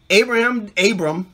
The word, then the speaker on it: Abram: Abram, you should say it properly.